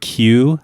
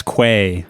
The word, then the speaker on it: queue: George pronounced the word queue, like you're standing in a queue, as quay. Oh. Because he had never heard it said out loud. Yeah, he just read it with all the E's and U's.